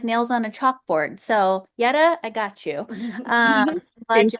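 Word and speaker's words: Jeta: So yes, my name is spelled JA, but it's pronounced Y TA. Yeta. Um, I'm Albanian, so the J is like pronounced Y in the Albanian alphabet.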